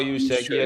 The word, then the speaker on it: Juszczyk: Kyle Juszczyk.